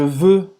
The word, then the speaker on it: veux: Je veux t'embrasser.